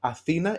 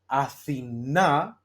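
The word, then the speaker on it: Αθήνα: Athena, if the accent is in Ita, in E, Athena is Athens, the capital of Greece. If it was like Athena, Athena, you see my where I drop the accent to the last syllable,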